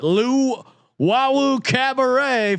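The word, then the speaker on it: Luwawu-Cabarrot: Luwawu Cabaret, $4,000.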